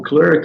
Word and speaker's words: clerk: E porque o inglês britânico usa o clerk, aquele atendente, com a mesma pronúncia do nome Clark, de Clark Kent, né?